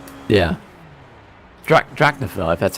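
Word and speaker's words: Drachinifel: Drachnafil, if that's how you say it.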